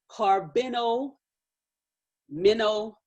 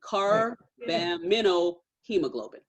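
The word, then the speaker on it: carbaminohemoglobin: into a substance called carbino minnow let me say it right car bamino hemoglobin okay so once again and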